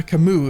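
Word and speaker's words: Camus: I would never say uh Camu if I didn't know that that's the correct official pronunciation. I've been conditioned to say the the right thing almost said wrong thing because you know it is wrong but it is right unfortunately it is correct.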